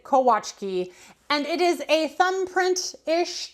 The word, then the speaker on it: Kolaczki: of this cookie before, you have actually probably pronounced it Kolaczki. No, now I can't even say it. Kolaczki. No, Chikski. You have probably pronounced it differently, right? Like look at the spelling. It's cola and then chiski. So Kolaczki, I don't know. But the Polish pronunciation of this is indeed Kolaczki.